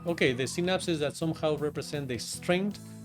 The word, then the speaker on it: synapses: Now we know much more about the neurons but at that time a very simple representation was that you have these synapses. How do you pronounce it?